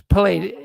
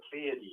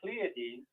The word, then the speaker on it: Pleiades: It was, yeah, it's Pallades. No, who said Pallades? Pronounced seven. There was two sevens. It's pronounced the Pleiades.